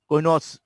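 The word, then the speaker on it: Couinaud: এগুলো বলে কোনটস সেগমেন্ট। কোন, আরে ডির উচ্চারণ হয় না, কোনটস বা কোনস সেগমেন্ট বলা হয়।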